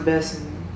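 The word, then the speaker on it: Bessemer: Even if it's not giving you instant money in the beginning and I'm from Bessma, Alabama and we call it big BMA. Well, BMA, you know, Belma BMA, but it's pronounced Bessma.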